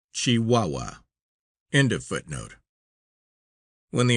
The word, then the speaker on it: Chihuahua: Footnote, pronounced Chihuahua.